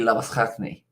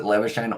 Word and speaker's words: Labuschagne: says his last name, because it's actually Labuschagne in South African or in Afrikaan. Okay. But because he says it Labuschagne, I say Labuschagne, and then everyone's like, oi, you Kiwi. That's not how you say it.